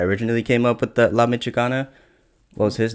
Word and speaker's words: La Michoacana: This is going to be how do you pronounce it? La Michoacana? La Michoacana, yes.